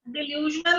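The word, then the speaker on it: delusional: ठीक है, यस ते डिल्यूजनल ਇਹਦਾ प्रोनाउंसिएशन डिल्यूजनल ਹੁੰਦਾ है मतलब एक्चुअली वो चीज है नहीं, फॉल्स है, ਤੁਹਾਡੇ ਇੱਕ फॉल्स ਇੱਕ ਗਲਤ ਤੁਹਾਡੇ ਦਿਮਾਗ ਚੋਂ ਬਣੀ ਹੋਈ ਹੈ।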